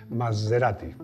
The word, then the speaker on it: Maserati: Es el Maserati, que es como hay que pronunciarlo, Shamal, un coche de 1990 que fue